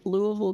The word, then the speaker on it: Louisville: Louisville, Kentucky on September 25 to 27 with Ron Funches.